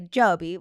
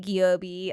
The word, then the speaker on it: Giobbi: I get I mean if I'm in Italy or Europe they say jobi which is it is Italian is how you say giobi and it's it's very cool to hear an Italian say it but um in the US I get goobi a lot in fact it's my